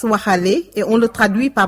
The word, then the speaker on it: Waxaale: On le prononce Waxale et on le traduit par marchandage.